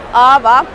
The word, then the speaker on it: aava: Okay, so Ava, first of all, Ava is a Finnish word.